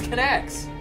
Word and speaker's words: Kinect: we don't have a connect right now so we're not going to I believe it's pronounce connect connect sorry connect connects